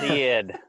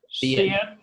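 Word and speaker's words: Cid: It's pronounced Sid. Sid.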